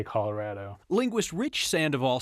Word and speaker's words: Colorado: Colorado, you don't say avocado, right? So it should be Colorado, like avocado, like tostado, right?